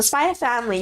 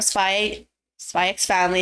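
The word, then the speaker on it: Spy × Family: Anyway, so that's for Spy Family or Spy X Family. If you guys say it like that, I won't judge, I guess, but I'm not that.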